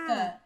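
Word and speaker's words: Lykke: Luca. I didn't either. I just looked at the pronunciation below.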